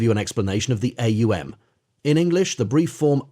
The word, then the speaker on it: AUM: The right use in Hindustani is AUM. Therefore, we will consider it in this light. It is a guttural sound. As you pronounce it, you will note it starts in the throat. To pronounce U, the lips must be thrust forward. You will note, is formed by pressing the lips together, causing a resonant tone like the humming of a bee.